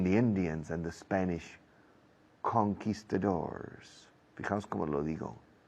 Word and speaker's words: conquistadors: It's about the fight between the Indians and the Spanish conquistadors. Fijaos cómo lo digo. Es una palabra española convertida al inglés, mal pronunciada, pero a lo inglés, conquistadors, against the Araucanian Indians in what is today Chile.